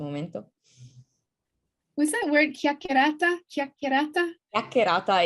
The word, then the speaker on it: chiacchierata: Chiacchierata?